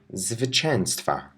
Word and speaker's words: zwycięstwa: The first syllable is zwy, zwy. Now let's add it to częstwa. Zwycięstwa, zwycięstwa.